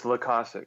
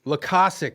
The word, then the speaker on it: Loykasek: Is it Loykasek? Is that how you pronounce it? It's Loykasek. Loykasek.